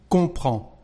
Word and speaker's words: comprends: Well, you know that the verb comprendre is irregular, and here we've got the letter D and S, but we don't pronounce them, so we just say comprends in French.